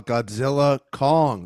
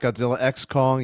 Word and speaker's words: Godzilla x Kong: Andrew Martin on Facebook saw Godzilla Kong. That's how I've been told to say it. It's not Godzilla X Kong. You ignore the X.